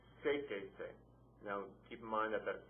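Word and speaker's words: séquese: So you have seke, add the se to it, you have sequese, stresses on the third syllable back, add the accent mark.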